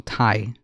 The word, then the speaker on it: Thai: dad one of the thigh hot peppers okay oh man are they thigh or Kai I thought they were Ty sorry I'm pronouncing it wrong Thai like t-h-a-i Thai sorry I'm pronouncing it